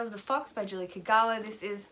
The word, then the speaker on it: Kagawa: So first off, we have Shadow of the Fox by Julie Kagawa. This is a, or Kagawa, I think would be the pronunciation.